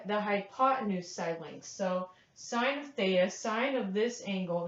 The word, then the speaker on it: sine: abbreviated as I n looks like sin but it's pronounced sine and here we write